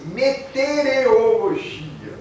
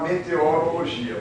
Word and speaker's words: meteorologia: que tá escrito aí Tem gente que fala exatamente assim metereologia que não existem nenhuma língua parece que é difícil falar meteorologia mas a razão é